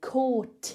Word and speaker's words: caught: So I do pronounce the T at the end of caught, but that's because there's a vowel word after it and I want to do some linking.